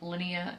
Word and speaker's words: Linnea: Okay, then there's this weird vibes between Linnea, that's how you say her name, Linnea and Kirsten, I don't know.